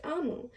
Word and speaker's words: Omu: Quick note to the readers and listeners, OMU is pronounced Amu and is the Igbo term for queen.